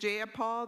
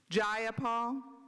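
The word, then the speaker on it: Jayapal: you agree with Miss ja Paul that there was no takeover it was just if you're gonna say my name please say it right it's jaia jaia Paul do you would you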